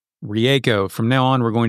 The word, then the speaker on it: Rieko: The correct pronunciation of her name is Rieko. Rieko.